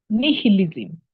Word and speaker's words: nihilism: Written nihilism, but we pronounce it as nihilism.